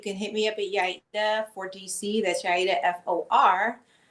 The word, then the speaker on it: Yaida: And let me say that I love Yaida. I love Yaida. I'm telling you, thank you for correcting me on a pronunciation, because that is way better than what I was coming up with.